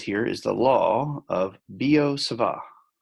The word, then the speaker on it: Biot-Savart: is the law of Biot-Savart. BiotSavart, the T is silent, it's French, you don't say half the letters.